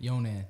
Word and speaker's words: Younan: Younan.